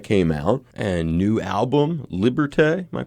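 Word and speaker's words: Liberté: Doobie Brothers that came out and new album liberte am I pronouncing that right uh yep that's it liberte we did just a ton of shows I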